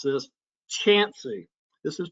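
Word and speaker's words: Chauncey: village called, be careful how you pronounce this, Chansey. This is pronounced Chansey, Ohio.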